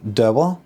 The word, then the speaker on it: Dower: In the attic, you've got Annie Beaumont and Tony Dower.